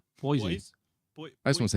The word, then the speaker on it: Boise: How's it But it's spelled? spelled B-O-I-S-E. Boise.